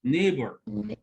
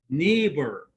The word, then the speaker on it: neighbor: he met Met met his his neighbor. name Neighbor. Neighbor. GH is silent.